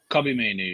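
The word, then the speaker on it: Kobbie Mainoo: of controversy the man united youngster holding midfielder kobby Mayu yeah Mayu yes I've gone with him I've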